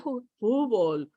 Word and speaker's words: fútbol: Oh, yeah, está fútbol. Oh, futbolista. ¿Eh? Futbolero. Fútbol. Huh? Fútbol. Yeah, with the L, fútbol.